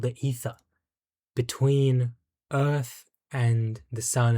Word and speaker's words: Aether: Well, it actually wasn't the Aether. It was the Ether. It's pronounced Ether.